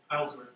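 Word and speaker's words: Hejlsberg: So does anyone know Anders, or how to pronounce his last name by chance? Heilsberg.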